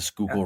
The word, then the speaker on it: Schuylkill: It's like Schuyler, something like that. It's like it looks nothing like it's supposed to. The Schuylkill River.